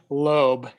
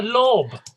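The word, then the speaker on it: Lobb: John Loeb, Right. custom shoe and boot maker in Britain. Okay. Lob.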